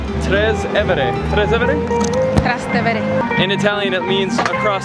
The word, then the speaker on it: Trastevere: We've got 7 stops on this trip and we're gonna be going through an area that I cannot pronounce. Trastevere. Trastevere? Trastevere.